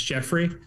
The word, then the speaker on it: Geoffrey: So it looks like Jeffrey or Jeffrey, and it's Jeffrey.